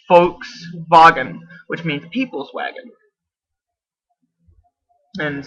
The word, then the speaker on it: Volkswagen: We just pronounce it a little bit different because we don't speak German. But it's actually it's not Volkswagen, it's Volkswagen, which means people's wagon.